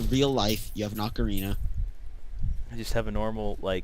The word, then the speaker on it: ocarina: Do you think you could kill a pig with an ocarina? You mean an oricana? Ocarina. I would pronounce it oricana and slowly piss off every other human being on the planet.